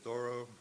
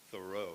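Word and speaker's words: Thoreau: as being in the no it's not thorough it's only linguist tell us there's no way it could have been pronounced thoro in his time Henry thoro while a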